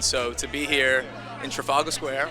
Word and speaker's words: Trafalgar Square: And so to be here in Trafalgar Square, right? That's how you say it? Yeah. Trafalgar Square, to promote and share this movie with the world is a blessing.